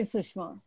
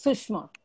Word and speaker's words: Sushma: So please feel free to call me Sushma.